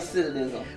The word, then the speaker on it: recidivism: Recidivism.